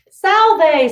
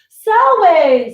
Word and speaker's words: salve: Salve, citizen. That's right. Oh, but the V is silent. Okay. Salve, citizen.